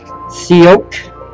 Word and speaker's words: Tsioque: I believe this is called, Tsioque. I think the T is silent.